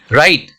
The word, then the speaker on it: Wright: अब RIGHT, राइट का मतलब होता है सही या अधिकार, और WRIGHT, राइट का मतलब होता है निर्माणकर्ता, जो बिल्डिंग बनाता है। इसमें W क्या है? साइलेंट हो गया, इसका प्रोनाउंसिएशन हम नहीं करते हैं।